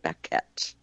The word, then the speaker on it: Baquet: He pronounces it Baquet.